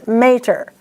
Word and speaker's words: mater: They ask you to pronounce the A as a short sound. That is incorrect. It's mater. M-A-T-E-R, there's one T.